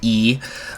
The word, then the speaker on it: Yi: Home to several ethnic minorities, including the Yi people, spelled Y-I, but I believe it is pronounced E, including Long Yun, who himself is ethnically a member of the Yis.